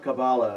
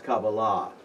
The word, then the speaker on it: kabbalah: thing by the way any word in hebrew ending in a h the accent is on the last syllable okay so it's not kabbalah it's kabbalah what i'm going to